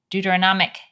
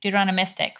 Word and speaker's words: Deuteronomistic: No, I mean Joshua, a lot of Deuteronomy, a lot of these texts in the Deuteronomic history, Deuteronomistic. Deuteronomistic, right? I missed some syllables.